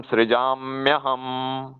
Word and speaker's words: सृजाम्यहम: अब ये संधि, संधि होके, ये तो अलग अलग बताया, अब इनकी संधि होके इसका उच्चारण ऐसे होगा, तदात्मानं सृजाम्यहम।